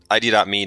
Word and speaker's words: ID.me: So, okay, let's talk about ID.me now. And do you call it ID.me still or ID? IDMe. IDMe. Okay. Yeah. You don't, there's this silent dot.